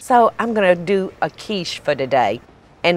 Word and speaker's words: quiche: what's this word cachet yeah I think it's pronounced Minnie cachet no you know what it's pronounced shish shish so I'm gonna do a quiche for today and it's just real real simple